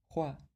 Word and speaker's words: roi: maître, or spinning wheel, showing that the French word for king, roi, was pronounced like roue during the end of the 18th century.